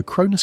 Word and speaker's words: Cronus: His name in Greek sounds like the word for time, Chronos, though they are technically different figures. But the association stuck, and so Cronus carries the weight of